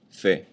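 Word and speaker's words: fait: meaning ver regre EXA the three first forms are pronounced exactly the same way Fe the third person singular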